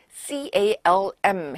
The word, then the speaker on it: calm: 그래서 C-A-L-M이라는 것은 L은 발음이 안 되고 고요한이란 뜻인데 all is calm.